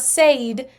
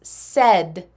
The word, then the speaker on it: said: The pronunciation on this is not said, it's said. Said.